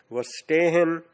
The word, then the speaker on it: Verstehen: Repeat, Verstehen, V is pronounced as F.